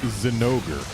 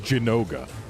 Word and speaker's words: Zinogre: Even in Japanese, before it ever showed up anywhere other than Portable Third, it was Zinogre. But a bunch of people who only played the Japanese version of the game and never bothered to look at anything other than the katakana it was spelled with decided, no, this monster, it's Jinoga. And not even Jin-Oga. Like, they completely mispronounce it most of the time.